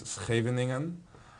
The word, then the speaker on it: Scheveningen: It's actually a Dutch name. It might sound a little horrible to you, but the name is Scheveningen. The Scheveningen defense is named after